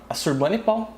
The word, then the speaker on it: Assurbanipal: 668 a 627 a.C., sob a liderança de Assurbanipal, é assim que se pronuncia, o Império Assírio atinge sua maior extensão.